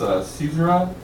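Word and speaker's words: caesura: came across this word i'm pretty sure it's pronounced a season rod it's a break in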